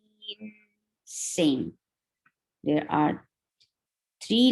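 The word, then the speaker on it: غين: Ghain. Same. There are three letters involved to pronounce the name of this letter. There are three letters which are those ghain, ya, and noon.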